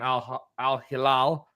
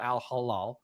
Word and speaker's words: Al-Hilal: to now when he's playing in Al-Hilal. Not Al Halal. I said it right this time.